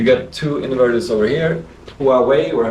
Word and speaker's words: Huawei: You've got 2 inverters over there, Solex You got two inverters over here, Huawei, or how you pronounce that.